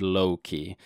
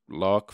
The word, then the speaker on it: Locke: Like he should make a video explaining to us masses who haven't read Loki. And yeah, I know it's pronounced Locke.